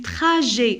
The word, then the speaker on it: trajet: Au cours du trajet, alors ET se prononce E.